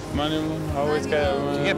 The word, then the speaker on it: Manuel: Yes, it's Hugo Manuel. Or Manuel, if you just say it wrong.